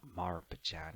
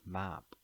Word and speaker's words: Marp: But actually in Thai, they don't pronounce the R. It's not maran, it's map.